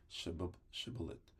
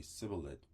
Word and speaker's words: Shibboleth: If he said no, then they would say to him, "Say Shibboleth," and he would say Sibboleth, for he could not pronounce it right.